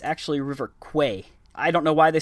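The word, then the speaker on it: Kwai: the movie is world famous as the river Quai that's actually not how it's pronounced in the Thai language in Thai it's actually River Quay I don't know why they spelled it k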